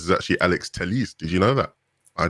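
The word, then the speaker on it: Alex Telles: um andy mitten said that apparently the correct pronunciation for alex tell us is actually alex telis did you know that i didn't i did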